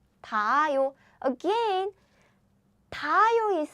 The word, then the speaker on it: 닿아요: Then Korean H sound is super weak. So we don't pronounce it. So the pronunciation is 닿아요. 닿아요.